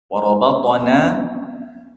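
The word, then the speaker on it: وَرَبَطْنَا: Warabatana di situ na dua harakat panjangnya.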